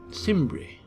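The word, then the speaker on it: Cimbri: the hands of the simri don't know how to pronounce it proun it with the soft sea Sim uh so that is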